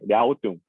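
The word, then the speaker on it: 辽东: 그래서 그 강 동이냐 서냐라고 해서 이제 랴오tung, 이게 중국식 발음인데 요동이냐 요서냐 뭐 이렇게 나누기도 합니다.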